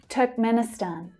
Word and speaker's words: Turkmenistan: So again, we're starting with the vowel sound here. Turk, Turk. Men. Now, men is the secondary stress here, so we hear it a little more clearly. Turkmen, Turkmen, Turkmeni, Turkmenistan. Stan is the strongest syllable.